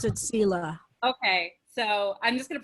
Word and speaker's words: Selah: So just very quickly, I first heard the word Selah, pronounced as Selah, because it was the name of like a character in a favorite show of mine. So that's how I read it when I read the Psalms. So and God, it is traditional. It is in some Christian pronunciations of it will be Selah.